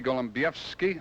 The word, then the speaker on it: Golembiewski: bro and congratulations Billy Golem BFI that's the way you pronounce it huh that sure is perfect huh we'll see you